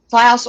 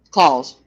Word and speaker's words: Klaus: Klaus or Claus, either is correct. Um Klaus is the German pronunciation. at It doesn't really matter as long as you don't make it something crazy. I've been Claus. The American Yeah. The American pronunciation.